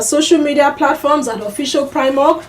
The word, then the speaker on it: PRIMORG: Remember that you can follow us on our social media platforms at Official PRIMOG. PRIMOG is spelled PRIMORG.